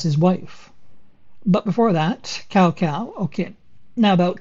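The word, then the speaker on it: Cao Cao: cow okay now about cow cow now the pronunciation of his name seems to change with every game i'm just going to go with cow cow because my cantonese pronunciation is horrendous so now cow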